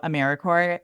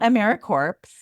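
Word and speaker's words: AmeriCorps: listeners who don't know americore thanks for pronouncing it the correct way it is not americ corpse and I'm also a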